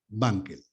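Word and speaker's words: Wankel: famosos motores bankel Banquells la W se pronuncia como B bankel la inmensa mayoría es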